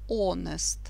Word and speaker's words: honest: Вот первая буква H, она не читается. Читать надо honest.